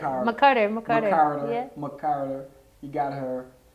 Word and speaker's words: McCarter: You got Layla McCarter, former I know I said it wrong. That's all right. McCarter.